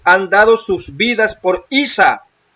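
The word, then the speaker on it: عيسى: O sea, en en árabe se pronuncia Isa porque así es pronunciado en esa área del mundo.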